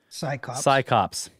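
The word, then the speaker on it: CSICOP: With shades of the magician and arch-skeptic, the amazing James Randi, co-founder of, how do you say this? Psychops, that's right. C-S-I-C-O-P-S.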